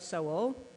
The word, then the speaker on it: Seoul: the Han River flows through the center of soul I just learned how to pronounce that correctly thank you Jim and it's